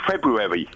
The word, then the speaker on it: February: There's a D and I love the way you go February. I'm saying I'm saying the first R. No one says the first R in February.